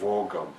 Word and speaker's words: Vaagan: Vaagan, yeah. Vaagan. Yeah, mm-hmm. The two A's are O really in Norwegian, mm-hmm. so it's Vaagan.